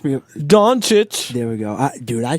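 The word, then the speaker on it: Dončić: Pronounce me. Doncic.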